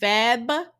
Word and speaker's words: February: do you say it Fe Feb febuary it's not February yes it is if you ask Google to say it for you she's gonna tell you February Alexa Alexa how do